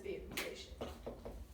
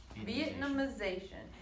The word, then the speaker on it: Vietnamization: Actually, I was kind of an answer you said at the same time, but it's Vietnamization.